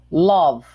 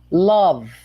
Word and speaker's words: love: Love. Olha só, a letra E é muda. Em geral, as letras E no final de palavra em inglês não tem som. Ok? Quase 100%. Love.